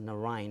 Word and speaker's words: Narayan: Hello, my name is Narayan, and if you don't know how to pronounce my name, think of the name Ryan. So Narayan, that's the closest you can get.